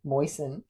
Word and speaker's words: moisten: What consonant is silent in all these words? Bassen, castle, moisen, and wrestle. It's t, right?